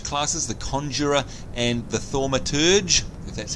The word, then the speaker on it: thaumaturge: the two major classes the conjurer and the thaumaturge that's how you say it then we've got